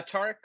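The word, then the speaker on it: Tareq: it uh you know is it tariq is that you say his name uh tarek tarek okay tarq wants to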